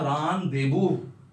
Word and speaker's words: rendezvous: Last but नॉट the least, ये word जो है करेक्ट है, इसको बोलते हैं रानदेबू। रानदेबू का मतलब क्या होता है? इंडिया में रानदेबू बोलते हैं इसको।